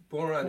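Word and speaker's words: bodhrán: well alright okay it's it's spelled funny but boron is the Irish drum that's it's a frame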